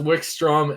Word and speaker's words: Wickstrom: It's pronounced Wickstrom and Faint, not Fint.